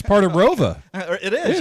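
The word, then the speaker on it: ROWVA: an additional town added after I graduated, but it's always been pronounced as Rova.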